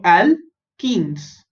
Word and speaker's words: alkenes: Next, ALK is same alk, ENE is ene. Okay, so alkenes, alkenes, alkenes.